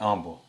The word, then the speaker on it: humble: You know the H is silent, right? What? It's humble. Humble.